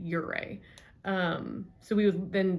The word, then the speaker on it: Ouray: in uray uray um a local told me it's pronounced uray uray um so we was